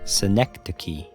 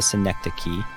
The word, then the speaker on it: synecdoche: The emphasis is on the first syllable, and the CH sound is pronounced like a K.